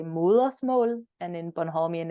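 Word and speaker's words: Mørsmål: love to, but however, you are absolutely gonna have to tell me how to pronounce that. Oh yeah. So the title of the EP is Moersmål. Moersmål. Yeah, Moersmål.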